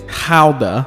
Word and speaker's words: Gouda: For taste, I'm going with a Dutch Gouda cheese, or as the Dutch say it, Gouda, which feels like they're just trying to pronounce that word in the most complicated way possible.